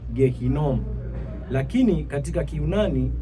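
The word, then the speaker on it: Gehinnom: Kwa maana hiyo neno bonde la mwana wa Hinom linapotamkwa katika kiania linatamkwa Gehinom.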